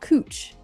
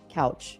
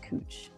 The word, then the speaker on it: Couch: If anyone is from Portland knows, uh, there's a street that looks like it's spelled like couch, but it's actually pronounced cooch.